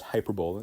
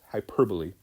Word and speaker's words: hyperbole: It's not pronounced hyperbole, it's hyperbole, okay, I promise, hyperbole.